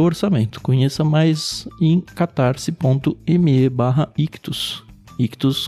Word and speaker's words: Ichthus: Ictus, como sempre, se escreve ICHTHUS.